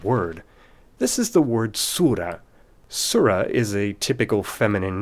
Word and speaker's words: surah: In the word surah, that attached ta gives away the gender, but make a note that ta isn't pronounced when the word is on its own like this.